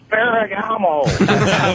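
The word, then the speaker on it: Ferrigno: I just wanted to let you know you're pronouncing it wrong. It's Lou Ferragamo.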